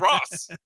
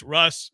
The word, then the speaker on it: Ross: Yeah, whenever you put in Russ Tucker, spell it R-O-S-S. Yeah. Like Ross. It's Russ. It looks like Ross.